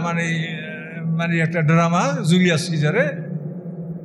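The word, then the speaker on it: Caesar: তো এই কায়সার শব্দটা দেখেন, আমাদের বিরুদ্ধে যে বিধর্মীরা কত বড় ষড়যন্ত্র করে, কায়সার শব্দটা আপনি বানান করেন CASER, কায়সার, কিন্তু এই বানানটাই ওরা রাখছে, কিন্তু ওরা উচ্চারণ করে সিজার।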